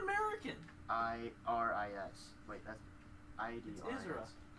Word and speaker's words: Idris: Isra. That's how you say it? It's Isra Elba. But the way you spell it is so weird. I-D... It's not American. I-R-I-S. Wait, that's I-D-R-I-S.